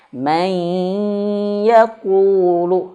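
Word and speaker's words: مَن يَقُولُ: Nah, ini keliru. Maka yang lebih tepat adalah may masuk hidung. May yaquulu.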